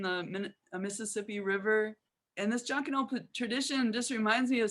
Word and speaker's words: Jonkanoo: I don't want to mispronounce it. Jonkanoo.